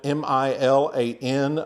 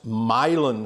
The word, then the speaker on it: Milan: this is made from what's called milin straw it's spelled m i l a n like Milan Italy but it's pronounced milon straw like milin Texas milin straw used to